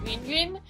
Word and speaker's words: Winnie: Well, it's actually pronounced like Winnie, but like that sound is not very common in other languages other than Chinese.